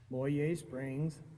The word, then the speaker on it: Moyie Springs: It's Moyie Springs and Kootenai. And if you don't say it right, they'll know you're not from the area.